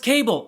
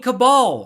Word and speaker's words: cabal: president to do it it's not pronounced cable it's cabal look Marge if you're